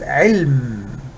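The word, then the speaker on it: عِلْم: there is fatha over the lamb this is elm there is uh either science or knowledge is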